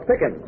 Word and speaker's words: Pickin: name's this is Miss Pickin rhymes with chicken taus green I said